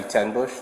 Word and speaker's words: Tenbusch: My name's Deputy Tenbush. It's t e n like the number, and Bush spelled like the beer, b u s c h.